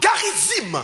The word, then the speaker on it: Garizim: le mot Garizim.